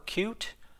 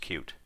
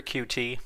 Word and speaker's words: Qt: first developed in 1994 cute as in cute so this is the company itself telling you that it is actually pronounced cute I found it funny